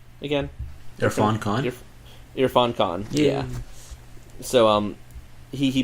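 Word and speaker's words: Irrfan Khan: I mean, InGen's obviously under new ownership by a certain individual played by how do you pronounce his name again? Irfan Khan.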